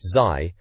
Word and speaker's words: ZY: The reviewer, some bloke called ZY, pronounced Zai, apparently seems pretty impressed.